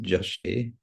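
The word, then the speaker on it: yaśe: So glories is yashe, pronounced jashe.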